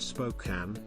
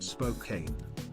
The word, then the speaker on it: Spokane: I love you as my Oshi, but it's pronounced Spokane, not Spokane.